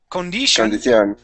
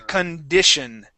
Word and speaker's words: condition: So instead of saying condition, we want to say yeah, we want to say using a short I condition. Condition. There you go. Condition. Condition. Condition. All right. Stay away from that e cond condition. Condition. There. That's it. Okay. So, we use that that short I sound.